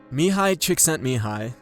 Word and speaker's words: Mihaly Csikszentmihalyi: Mihaly Csikszentmihalyi, and that's by the way how you say